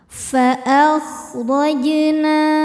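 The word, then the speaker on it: فَأَخْرَجْنَا: Fa'akhrajna. Huruf ro dibaca secara tafkhim karena berharokat fathah. Cara membacanya adalah dibunyikan dengan tebal.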